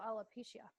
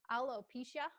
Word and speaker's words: alopecia: There's also alopecia.